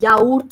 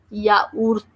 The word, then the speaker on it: yaourt: For example, yogurt is called yaourt in French, and the spelling is Y-A. So that will be yaourt.